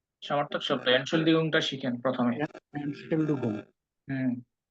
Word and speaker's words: Entschuldigung: Entschuldigung, not Schaldigung.